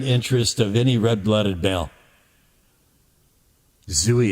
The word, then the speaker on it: Zooey: Zooey, it rhymes with gooey.